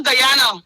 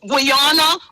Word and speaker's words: Guyana: This little Guyana that people didn't really even know. They didn't even know how to pronounce this country. Guana all kind of name that was pronounced in this country.